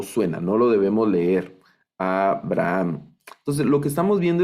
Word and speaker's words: Abraham: Eh, Aquí no leemos Averaham, ¿verdad? No vamos a leer Averaham, sino estamos leyendo únicamente Av y este Sheva, aunque